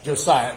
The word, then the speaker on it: Josiah: um how do you say his first name Josiah Josiah his his brother has a non okay non